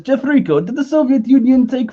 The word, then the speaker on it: Jeffrico: It's pronounced Jeff? Jeffrico. Jeffrico, exactly.